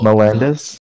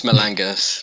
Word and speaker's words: Malangus: Now, Melendez? It's Malangus, but... No, it's typed wrong, but I said it right.